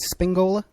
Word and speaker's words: Spingola: And I'm pronouncing it correctly, right? Spingola? That's correct, sir.